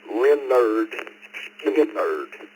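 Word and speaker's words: Lynyrd Skynyrd: My first album was Leonard Skinner's debut album, pronounced Leonard Skinner.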